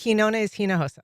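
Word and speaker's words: Quiñones-Hinojosa: Quinones-Hinojosa.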